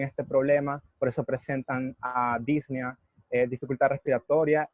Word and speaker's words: disnea: Se pronuncia disnea.